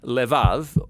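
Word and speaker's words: לב: We're going to look at the fourth key word in this prayer, heart, which in Hebrew is sometimes pronounced levav or more often in a shorter form, lev.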